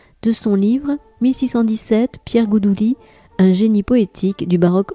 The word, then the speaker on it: Goudouli: Oui, alors en effet, on dit Goudouli, mais on pourrait aussi dire Goudelin.